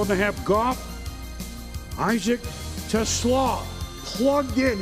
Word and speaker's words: TeSlaa: Goff, Isaac TeSlaa, plugged in. It's spelled like Tesla, but it's TeSlaa.